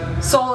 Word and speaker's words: Seoul: Seoul is in the capital city of Korea.